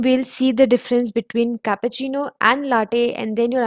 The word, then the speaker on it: cappuccino: Then comes cappuccino, which is one of the most heard among all these, and it's preferred by many too.